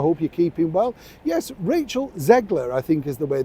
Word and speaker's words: Rachel Zegler: time today I hope you're keeping well yes Rachel zegler I think is the way that you pronounce her name very young actress just starting